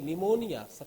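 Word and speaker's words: pneumonia: देखिए निमोनिया P silent रहेगा।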